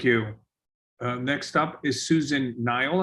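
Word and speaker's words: Nial: next up is susan nile i believe if i say that right that's correct my name is susan nile and the last name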